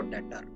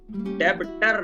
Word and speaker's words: debtor: इसमें B silent रहता है, हम डायरेक्ट पढ़ते हैं इसको डेटर, डेबिटर नहीं पढ़े।